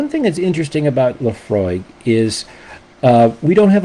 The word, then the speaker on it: Laphroaig: Leafroy, pronounced Leafroy. La F R O Y G. Okay. So, frog with a Y in the middle for no apparent reason, right?